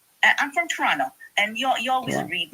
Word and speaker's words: Toronto: I'm from Toronto and you you always read my uh my my turtle chats. Yeah, I know you're from Toronto because you said that you didn't pronounce the second T.